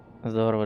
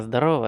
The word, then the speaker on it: здорово: Здорово, джедай. Ага. Типа того. А, здорово, а не здорово. Здорово, здорово. Что-то я не так прочитал, не то ударение поставил.